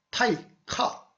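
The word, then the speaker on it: 大化: 들었던 기억이 날 겁니다 그 대화를 일본 발음으로는 타이카 즉 화 화가 카로 바람난 겁니다 초성 희이이 기역으로 비나는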